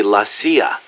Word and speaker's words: la CIA: Around here they say La CIA instead of CIA, huh? Nothing strange about it. That's how it's pronounced when you read it in Spanish.